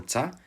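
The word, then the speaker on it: ča: This language had three main dialects, each named for the way they pronounced the word what: Shtokavian, with its shto, or shta, Čekavian with its cha, or ca, and Kajkavian with its kai, or k.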